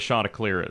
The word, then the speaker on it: Chanticleer: Hey, this is how you pronounce Chanticleer. It ain't the chants. It ain't the chandeliers.